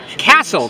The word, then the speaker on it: Kassel: here with author Cassell is Amaya pronouncing that right hassle castle castle like a like the medieval castle where the King lives and he has a